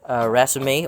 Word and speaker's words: raceme: I guess you can call them branched raceme or compound raceme because it's not just one single stalk of raceme or raceme.